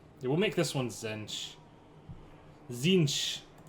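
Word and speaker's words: Tzeentch: Zinch. That's the proper way to pronounce it.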